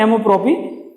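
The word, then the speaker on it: amour-propre: और एमोप्रोपी, self respect, pronunciation क्या है, एमोप्रोपी, सेल्फ रेस्पेक्ट यानी खुद के स्वाभिमान के लिए।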